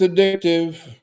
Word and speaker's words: addictive: It's addictive. Not accent on the dick either because a lot of people say that but it is addictive.